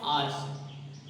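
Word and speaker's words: hours: बहुत सारे लोग सही नहीं बोलते, नहीं मिला तुमको कोई सही बोलने वाला, बट क्या सही उच्चारण क्या है, आर्स, क्योंकि देखो घंटा तो हमारे, ये जो घंटा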